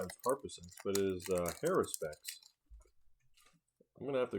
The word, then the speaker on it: Haruspex: Search for Glory, Seraph, Grim Harpasex. I pronounce it wrong. It's Haruspex.